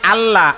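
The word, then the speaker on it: الله: দিব কি দিবেন কি দিবেন এইবার হল আল্লাহ আল্লাহ আল্লাহ এই লাম কিন্তু মোটা হবে না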